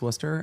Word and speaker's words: Worcester: fine state of Massachusetts, the fact that Worcester is pronounced Worcester and it is spelled with so many additional letters was deeply confusing to me when I went to UMass Amherst.